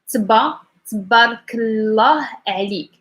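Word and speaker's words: تبارك الله عليك: Yes, for pronunciation is tabarakallah alik, tabarakallah alik, tabarakallah alik. So when you go to the first, you don't emphasize anything.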